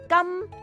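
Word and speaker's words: 金: And in Cantonese, gold is pronounced gam.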